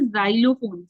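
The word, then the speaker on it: xylophone: से भी पढ़ेंगे जैसे जाइलोफोन जाइलोफोन की स्पेलिंग एक्स से आती है ठीक है तो हम ज से पढ़ेंगे तो आप लोग कंफ्यूज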